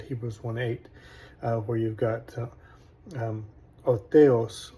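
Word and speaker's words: ὁ θεός: In Erasmian, we'd say ha theos, but in the reconstruction, o theos, and so you don't pronounce the rough breathing sound in the reconstruction. Anyways, o theos could be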